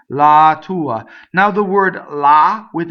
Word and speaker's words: la tua: go through the Aria so la the definite article is a weak mono syllable so weak mono syllable does not cause a phrase little doubling I hear a lot lot to uh TT where it doesn't belong la tua now the word la